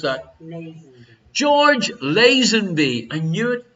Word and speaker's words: Lazenby: How would you pronounce that? Lazenby.